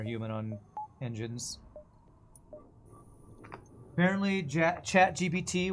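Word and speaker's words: ChatGPT: on engines apparently jck chat GPT when pronounced in French sounds like cat I farted so whenever French newscasters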